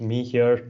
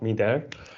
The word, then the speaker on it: Mihir: It's pronounced me here, not me there.